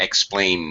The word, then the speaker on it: explain: note here Talis explained make sure that this is only a two-syllable word not explain Ned 3x plane now